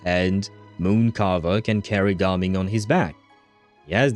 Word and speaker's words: Gaming: It's supposed to be Garming. Uh, at least if you listen to the voice actors uh, in English, but I think even in uh, Chinese, it's supposed to be pronounced ging, not gaming is well, that's a word, I suppose.